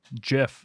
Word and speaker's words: GIF: a ted lasso quote where they'll be like jiff like someone says jiff and then someone in the scene says some people pronounce it gif and then someone will say